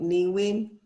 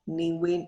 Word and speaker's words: Nghi Nguyen: And I came up with Nhi Nguyen because that's the way that, you know, my friend here called me by my name. So Nhi Nguyen is actually like how American say my name.